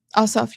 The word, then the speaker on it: Ossoff: Ossoff, you're right.